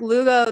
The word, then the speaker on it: Lugo: name by the way oh yes rhymes with uh hugo perfect okay so here with lugo the author of the